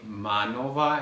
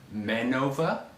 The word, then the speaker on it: MANOVA: also open for debate i say manova and mankova but i also heard people say man over but if i hear